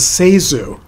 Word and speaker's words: Zasu: And I just discovered that in one of her biographies, she states that the correct pronunciation of her name is Zasu. So I guess I've been mispronouncing it all these years.